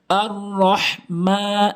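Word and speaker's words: الرحمن: আর রহ, অনেকেই ভুল উচ্চারণ করে বলে আর রহ, ছোট হা এনে বলে। ছোট হা এটি হচ্ছে বড় হা, যেটি হলকের মাঝখান থেকে। আর রহ, আর রহ মা, মিমে একালিফ টানবেন খারা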